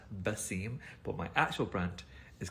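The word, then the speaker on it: Wasim: actual name is pronounced vasim we don't have the letter v um we we use the letter w instead but it's pronounced bassim but my actual brand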